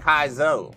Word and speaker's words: Kaizo: So it is Kai like Sky. So it was Kaizo. Yeah. So I was saying it right. All right, cool. I'm willing to be told that I'm wrong. Also, I've known enough people where my brain goes, AI, it's Kai. Like, it's Kai.